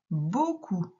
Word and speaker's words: beaucoup: Il y a un mot-outil où il y a le son O qui s'écrit E-A-U, mais qu'on voit cette fois au début. C'est le mot beaucoup.